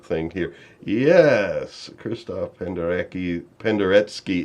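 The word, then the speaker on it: Penderecki: Penderetski is usually how I hear it's pronounced.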